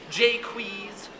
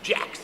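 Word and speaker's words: Jaques: now i am well i have one name with many pronunciations jay quees jolies jax jakes you can see why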